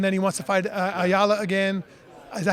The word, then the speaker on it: Ayala: fight Gormley, and then he wants to fight Ayala again. Is that how you say his name? Yeah. Ayala, and then he's worried about whatever else later.